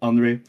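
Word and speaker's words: Henri: It's written Henry, but it's pronounced Henry. My dog Um, Henry. It's pronounced by like a French Henry.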